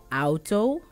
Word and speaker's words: auto: have the auto so a u is pronounced as ow in dutch ow so the auto which is the car and autos which are cars auto which is car and autos are cars and then you have